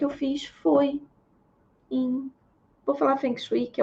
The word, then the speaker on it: Feng Shui: Hoje em dia eu não tenho usado mais para trabalho, mas vou repensar isso, que é o Feng Shui, ou como se fala corretamente, Feng Shui.